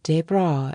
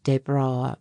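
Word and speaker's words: Desbra: "I of course pronounce my name in English fashion, but it is spelled just as my father's was. D E S B R A. As the young Englishman gave his name its French accent and pronunciation, Jesse uttered a little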